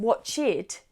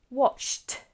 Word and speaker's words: watched: So, for example, watch does not become watched, but just watched, watched, watch, watched. The word has the same syllables, but it has a T sound on the end when we're talking about the past.